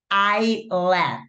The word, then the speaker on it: island: Y yo de chiquita era Yoshi Island, Yoshi Island, Yoshi Island. Hasta que después me di cuenta que todo ese tiempo había estado diciendo mal, ¿no? Entonces es Island, ¿ok?